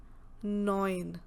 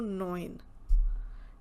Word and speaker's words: neun: 9, neun. You can relate the word with the English word coin. Like we say coin, that changed to neun.